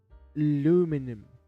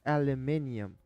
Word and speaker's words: aluminium: quite French like garage aluminum oh aluminum that's an American one it's aluminium ladies and gents aluminium well anyways garage